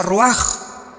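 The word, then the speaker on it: רוח: Se pronuncia roaj. Por ejemplo, cuando hablamos del Espíritu Santo, el Espíritu Santo es roaj, el kados.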